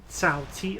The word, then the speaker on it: Cao: So, the enemy is all around if you played this game, Cao Cao is actually pronounced Cao, like T-S-A-O instead of C-A-O.